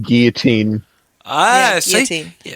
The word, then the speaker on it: guillotine: The L's, like when you do the double L like that, it's silent. It turns into guillotine.